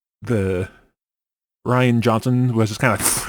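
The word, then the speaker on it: Rian: Ryan? It's like Ryan, except with an I instead of a Y.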